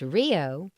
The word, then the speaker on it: RHIO: A Regional Health Information Organization, RHIO, pronounced RIO, is a multi-stakeholder organization that facilitates the transfer of healthcare information electronically across organizations and among stakeholders in a particular region.